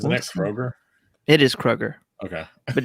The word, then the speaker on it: Kroger: It is Kroger, Okay.